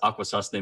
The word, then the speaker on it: Akwesasne: And I am Akwesasne Mohawk, and you did pretty good as far as pronunciation. But it's Akwesasne Mohawk, and Akwesasne is actually